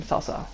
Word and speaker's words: Cao Cao: So, and yes, it's how you pronounce his name, Cao Cao.